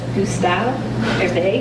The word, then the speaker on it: Gustave Hervé: It's on the French socialist, the National Socialist Gustave Hervé. Am I pronouncing that correctly?